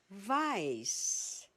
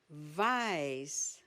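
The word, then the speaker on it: weiß: You pronounce it as V. Black is white. Vice. Vice.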